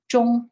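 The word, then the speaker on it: 忠: This zhong, as it's pronounced, is a dedication to these particular principles, and ensuring that we fulfill our responsibilities in that role.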